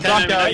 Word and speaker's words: Socko: The 77 of Kevin Socko? Is that how you pronounce it, Teddy? Kevin Socko, yeah.